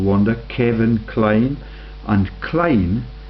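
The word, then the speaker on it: Kline: Wonder Kevin kleene and kleene is the pronunciation yeah are you beginning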